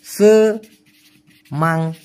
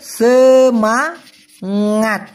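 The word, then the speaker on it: semangat: সেমাঙাট উচ্চারণটা হবে সেমাঙাট, সেমাঙাট।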